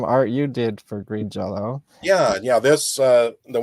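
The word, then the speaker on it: Green Jellÿ: Jello or green jelly it's pronounced Jello but it's spelled jelly but um I can't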